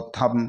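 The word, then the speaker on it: thumb: आ रहा है तो इस बी को हम साइलेंट कर देंगे और इसको थम थम पढ़ेंगे थंब नहीं पढ़ेंगे इस प्रकार साथियों एम के बाद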